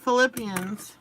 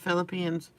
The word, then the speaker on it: Philippians: we're gonna go to Philippians I can't believe I used to pronounce of philipians Philippians Philippians chapter 4 verses 6